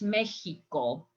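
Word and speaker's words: México: And I'm not saying in Spanish Mexico. In Spanish, we pronounce Mexico.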